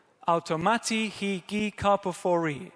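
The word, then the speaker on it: καρποφορεῖ: The next word is gi, like a g sound, and then the final one is karpophori. Automati, he, gi, karpophori.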